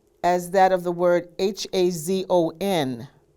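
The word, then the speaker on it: חזון: It is the root as that of the word H-A-Z-O-N. How do you pronounce that? Hazon?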